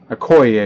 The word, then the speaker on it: Okoye: now we had a mobi oak oak Oh okoye I can never say his name three of 75 rookie letter letterman a COI yay there you go I went to a robber